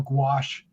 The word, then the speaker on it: gouache: We had to do a gouache paintings, right?